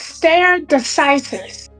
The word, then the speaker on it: stare decisis: It's pronounced stare decisis.